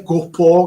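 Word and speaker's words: gå på: In svedese Gopo, che si scrive Gapa, però è quella A con quella specie di tondino che si trova sopra, e quindi si legge O, è una O molto aperta, come piace agli svedesi.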